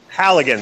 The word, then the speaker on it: Halligan: Halligan, hooligan, hot lips, hooligan, whatever. I thought hooligans were like UK soccer fans run amok or something. The only reason I know how to say the name correctly is because I've used one. Okay, Halligan.